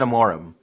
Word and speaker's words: Amorim: a moorim okay capitalized but it's easier to pronounce it that way Amorim but like a mor I am